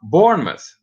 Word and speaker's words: Bournemouth: countries so far well hold on a minute it's pronounced Bournemouth oh okay born bus alright thanks one is